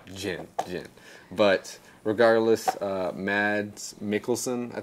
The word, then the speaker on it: Jyn: I thought everyone was calling her Chin, like chin on your face. No, Jyn.